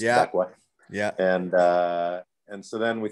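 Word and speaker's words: Växjö: It's like spelled like Vax Joe, but I think it's pronounced Vakwa.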